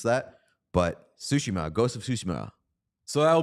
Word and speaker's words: Tsushima: It's pronounced Tsushima. Okay, good. Thank you. That's very, very helpful. I did not know how to pronounce that, but Tsushima, Ghost of Tsushima.